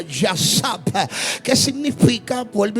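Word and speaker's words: יָשַׁב: Y el salmista lo dijo muy claro: el que habita, palabra hebrea que tiene la misma connotación, donde se refiere o se pronuncia yasab, que significa, vuelvo y reitero, morar o habitar.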